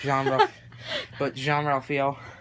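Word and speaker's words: Jean-Ralphio: Oh my gosh, Jean Ralphio, that's how it's pronounced.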